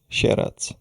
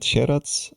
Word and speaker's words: Sieradz: And the most western city we will get in the DLC part two is called Sherats. So scar and sherats I think could be problematic for the foreigners.